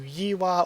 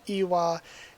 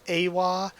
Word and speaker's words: Yiwa: I prefer the YI Yiwa, because again, the pronunciation should be more similar to Yiwa or Iwa, and I've seen a lot of people with that pronounce it as Awa or Ewa, and it should be, again, Iwa or Yiwa.